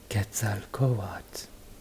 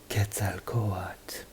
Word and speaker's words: Quetzalcoatl: well known Aztec God gets out of coal odds see how you pronounce the L here but not the L at the end again gets out coatt longer na what words